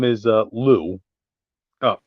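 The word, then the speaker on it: Liu: crap sorry sorry kid his name is uh Lou oh l i youu yeah Lou there's a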